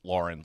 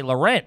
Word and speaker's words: Lauren: ralph lauren saying that it's pronounced lauren like a girl wow okay so you're a jerk off if you say laurent yes ralph you're trying